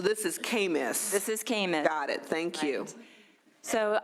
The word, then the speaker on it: CAMMIS: I was going to ask, you know, only Department of Healthcare Services do we pronounce all these acronyms differently. So this is CAMIS. This is CAMIS.